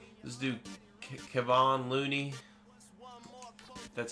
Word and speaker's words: Kevon Looney: Let's do Kevon Looney.